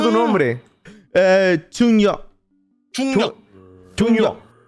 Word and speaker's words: Jungryeok: ¿Cómo se pronuncia tu nombre? Jungryeok. 중요. Junyo.